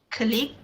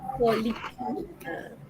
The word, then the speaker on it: colleague: Klik. Colleague. Betul? Ramai yang akan cakap klik. But then the correct pronunciation is colleague.